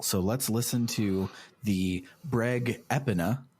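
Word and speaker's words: Breg Epona: So let's listen to the Breg Epina, not the Brigipona, as I thought it was going to be pronounced.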